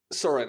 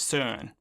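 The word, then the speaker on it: Søren: Soren, exactly. That's perfect. The American pronunciation, but the name is Danish. My mom is from Denmark, and I believe the correct pronunciation is somewhere along the lines of Soren.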